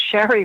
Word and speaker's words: Shari: Shari is spelled S-H-R-I, not Sherry. I say that because I have a cousin named Sherry. So it's Shari, has been counseling